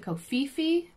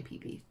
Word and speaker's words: Phi Phi: Some people pronounce it Koh Phi Phi, but it's actually Phi Phi.